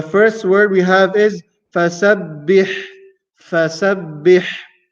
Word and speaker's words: فسبح: The first letter is fa. Fa is pronounced using the lips. As we mentioned before, sin, sa, pronounced using the top tip of the tongue. And the tongue has to remain inside and not come outside. Sa. And then comes the letter ba with a shadda.